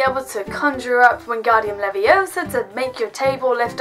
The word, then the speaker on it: Leviosa: You've got to learn to say Wingardium Leviosa, not Wingardium Leviosa. Leviosa.